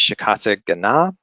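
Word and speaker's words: Shikata Ga Nai: This is using an encryption method, and I always mispronounce this, but it's Shikata Gana.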